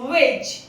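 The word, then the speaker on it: wedge: Next is वेज, इसमें भी D silent है।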